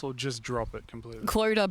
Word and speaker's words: Clodagh: Clodagh, but phonetic. So just like drop the GH, which, I feel like